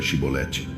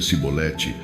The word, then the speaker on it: Chibolete: Eles diziam: "Muito bem, diga Chibolete." Se ele dizia cibolete porque não conseguia pronunciar a palavra corretamente, eles o prendiam e o matavam nos valquela ocasião, 42.000 efraimitas foram mortos.